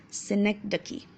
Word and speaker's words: synecdoche: Make sure you pronounce this properly. It's a little Synecdoche.